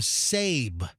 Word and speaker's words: Sab: debuted this jingle from sab sab AB professor rhymes with Gabe. Oh yeah. Sab rhymes with Gabe.